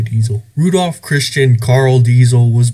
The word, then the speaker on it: Diesel: Quick note on pronunciation, I say Diesel, a lot of other Americans say Diesel. According to my research, the German way of saying this name is Diesel, but I'm just going to say Diesel.